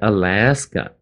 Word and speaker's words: Alaska: 第二个是 Alaska, 那个这个来的地方